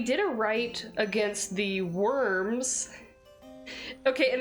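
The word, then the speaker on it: wyrms: So we did a rite against the worms. Okay, and it's spelled like W-Y, you know, R-M, like a reptilian worm, but they're literally just like little worm guys.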